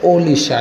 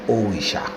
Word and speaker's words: Orisha: Vraiment, c'est vraiment Orisha. C'est dans le thème latin, on connaît R là pour elle vient L. Eh bien, on prononce Orisha. En espagnol, dans la langue là, on va le jeune dans le langage ça, tout A vient prononcer encore L. Et dans le français, à la fois, elle vient souvent en L.